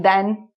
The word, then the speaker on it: then: So then sounds like Ken. You know Ken and Barbie? Ken. It rhymes with Ken, then. Than is more like can. So can, than, Ken, then. So there is a slight difference in pronunciation.